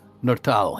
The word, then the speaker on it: Nortal: Bartender's gonna be looking kind of strange at Nurtal. Is that how it's pronounced? Yeah, Nortal, yep.